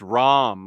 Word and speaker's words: Rama: Bunkmaster says it's pronounced Ram, like the God King Rama.